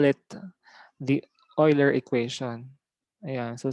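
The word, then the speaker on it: Euler: we call it the oiler equation yeah so some say UL but actually the right pronunciation for this is Oiler equation yeah so e raised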